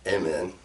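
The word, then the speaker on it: Amun: That's pretty close to the pronunciation in Egyptian of who we're talking about.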